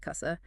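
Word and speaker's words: casa: While the word for house, kasa, sounds like kasa.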